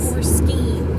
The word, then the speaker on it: skein: So just started on the second skein. Yeah. Skein or skeen? You know, I always used to say it's skein, but then I've heard so many people say skein.